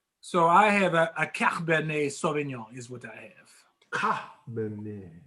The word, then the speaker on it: Cabernet Sauvignon: So I have a Cabernet Sauvignon is what I have.